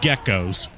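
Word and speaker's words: Gekkos: try not they're called geckos why are they called geckos when they move uh not not spelled like the animal but pronounced the same way you'll see a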